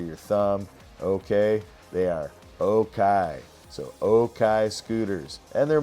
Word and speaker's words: Okai: Let's pick it up with Jack Gillin where we left off last week with Okai scooters. That's O-K-A-I. It's kind of a Chinese pronunciation of okay.